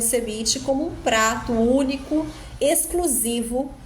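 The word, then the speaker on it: cebiche: escrito com v e ele pode ser escrito com B com la ubbe ou com la b a pronúncia é sebit de qualquer maneira e a semana passada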